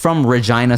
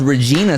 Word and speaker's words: Regina: I thought it was Regina, Saskatchewan, and I had a show in Calgary. They're like, which is- no. It rhymes with vagina.